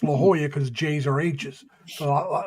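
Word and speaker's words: La Jolla: you go you go to San Diego it's La Hoya but it's spelled laoya right right but it's pronounced La Hoya because J's are hes so that's why I'm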